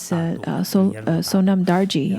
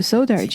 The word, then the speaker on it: Sonam Dari: usually have four syllables for example my full name is Sonam Dari I'm not so sure who swallowed the num out of the name therefore people somehow people somehow simplified my name to sodar not so sure what